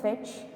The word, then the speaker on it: fetch: Fetch. It has only one syllable. How to pronounce it? Fetch. T is silent here, so fetch, meaning get.